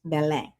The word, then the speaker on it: Belém: Belém looks like Belem, b l e m, but it's pronounced Belem.